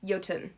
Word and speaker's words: Jötunn: But I believe it is pronounced Jötunn.